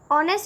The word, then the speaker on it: honest: Now honest is starting with the word H, that is a consonant. But if we pronounce the word honest, then it is starting with the sound O, that is a vowel.